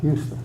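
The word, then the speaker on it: Huston: is Houston um Houston Hu s t o n Houston Houston sounds like the city not spelled the same okay um so I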